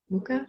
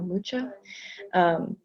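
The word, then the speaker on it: Mucha: me in general alaman think it's pronounced Alphonse Luca or lucha when I look back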